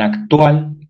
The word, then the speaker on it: actual: En actual, la segunda sílaba, tual.